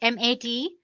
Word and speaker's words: MATE: boots you into the mate desktop environment let me pronounce it M80 you can call it whatever you want mate or mate desktop environment